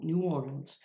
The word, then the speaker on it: New Orleans: New Orleans, that's the right pronunciation, I believe.